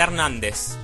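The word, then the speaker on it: Hernández: so it's an antic Jose Hernandez pronounce it correctly the H is Island ah and and well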